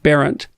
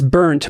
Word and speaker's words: Barent: My great-grandfather, who built a boat and sailed it to North America, was named Barent. Oh, wow. Yes. But people have pronounced it as burnt my whole life, which also has a certain ring of truth to it.